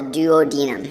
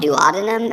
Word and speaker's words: duodenum: of the small intestine, which we call the duodenum, or sometimes called duodenum. I've heard it pronounced both ways.